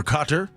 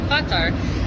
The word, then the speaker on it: Qatar: I think you pronounce it a few different ways, but the fans that I talked to pronounce it Qatar, which is closer to the Arabic.